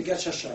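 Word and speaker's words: gacaca: C'est qu'ils ont remis à l'ouvrage ce qu'on a appelé les gachacha. Les gachacha, ça s'écrit G-A-C-A-C-A.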